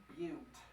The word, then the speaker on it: butte: in the interest of not being demonetized, that I point out that this word is pronounced butte, and it's Oh, probably quite an appropriate butte?